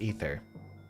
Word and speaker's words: Aether: the surface of aether is it ether or aether i think it's officially pronounced ether i'll have to look